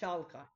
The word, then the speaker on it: Schalke: so I I'm really sure that I cannot pronounce amid Schaap Shaka Shaka got it Schalke thank you bro I appreciate that man appreciate